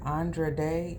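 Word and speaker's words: Andra Day: Glenn Close as the mother and I think Andre day is how um you pronounce her name um the daughter um Andre de is uh the main character Mo'Nique is also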